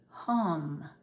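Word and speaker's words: HAM: throat chakra which is hum h-a-m pronounced h-u-m taking a deep nostril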